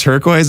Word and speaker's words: turquoise: So they pronounced turquoise in it a little bit, and he pronounces it Tur-QUOIS.